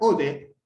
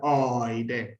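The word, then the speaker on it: ᾠδή: Se pronuncia ode. Nosotros la vamos a pronunciar oide.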